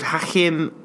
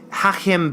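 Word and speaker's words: Hachim: a French artist could hack him well I don't have pronounces hack him Bauhaus I'm going to pronounce that H ACH I am and the surname bah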